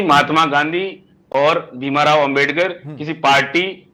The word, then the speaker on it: भीमराव अंबेडकर: होता है कई बार, हर किसी का प्रोनाउंसिएशन क्लियर नहीं होता है, लेकिन आपने जितनी बार भी कहा भीमाराव अंबेडकर कहा, आप उन्हें भीमराव अंबेडकर कहें, ज्यादा बेहतर होगा।